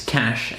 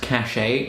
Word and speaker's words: Caché: I'd like to say before I start that I thought it was pronounced Caché or maybe Cache, but apparently it's a French word and it's pronounced Cache, so don't be going off about it in the comments, you fuckers.